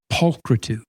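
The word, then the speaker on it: pulchritude: What does that sound like? It sounds like the word putrid. Like putrid, right?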